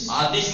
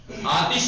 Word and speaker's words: آتش: آتش مت پڑھیے گا اسے کبھی بھی، اردو میں بولتے ہیں آتش، فارسی والے آتش نہیں بولتے، آتش، آتش، آتش یعنی آگ.